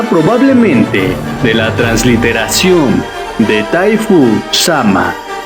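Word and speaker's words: 大夫: de la transliteración de taifu sama siendo taifu pronunciada dafu en chino una palabra usada para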